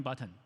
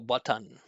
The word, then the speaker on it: button: Uh do you say happen green button? That's very cont. Well, button right button instead of button another salabic consonant intuitive right.